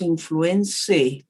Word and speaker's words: influenzae: Y aprovecho de decirles aquí que ahí tienen ustedes, este es un nombre latino, tiene una combinación AE que se pronuncia E. El Haemophilus influenzae no es influenzae, porque la gente dice influenzae, no.